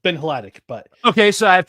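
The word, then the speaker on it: Hladik: I said his name wrong, didn't I? Who? Ben Haldy. Defense. Lions defense. Oh, Ben. Oh, well, not that. Not the name correction. Ben Hladic. It's Ben Hladic, but okay.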